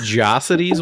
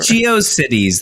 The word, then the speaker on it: GeoCities: Is it pronounced Jocities? What the fuck was that? I always It's said GeoCities. What the It's what is GeoCities. Jocities? It's GeoCities then.